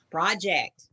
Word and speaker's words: project: Project. Yes. Project with the emphasis on the second syllable.